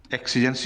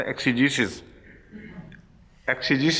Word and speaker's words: exegesis: the University of Manchester۔ ایکسیجنسز نہیں ہو سکتا، ایکسیجیسس ہی تلفظ ہے کیوں آفتاب خان صاحب؟ ایکسیجیسس ہی کہلائے گا نا۔ اچھا، مینچسٹر میں